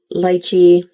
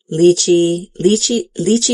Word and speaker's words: lychee: Lychee, lychee is actually how you say it in Mandarin, and in Cantonese, it's actually lychee, not lychee. So whenever I actually say lychee, I say lychee in Cantonese.